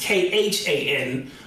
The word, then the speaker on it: Khan: But it's pronounced K-H-A-N, but it phonetically says Khan, right? Khan.